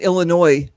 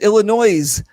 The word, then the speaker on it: Illinois: So the S is silent. So if you're looking and you go, well, I'd like to visit Illinois, well, then you're going to know that you're not from there anyway.